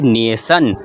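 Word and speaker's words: nation: ओ एन क्या है टी आई ओ एन इसको हम लोग पढ़ते हैं स क्या स जैसे नेशन नेशन नेशन का मतलब क्या होता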